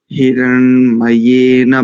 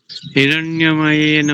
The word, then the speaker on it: हिरण्मयेन: और हिरण्मयेन, शब्दों का उच्चारण ना स्पष्ट आना चाहिए। हिरण्मयेन पात्रेण सत्यस्या पिहितम मुखम, ऐसे करेंगे। ठीक है ठीक है। सोमाराम जी। हिरण्यमयेन पात्रेण सत्यस्यापिहितं मुखं योऽसावादित्ये पुरुषः सोऽसावहम्। ॐ खं ब्रह्म। हिरण्य नहीं है, देखो ध्यान से